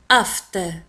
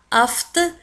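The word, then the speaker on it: aphte: أفت. لاحظوا كذلك على أن أفت تكتب A P H T E. F P H تنطق F.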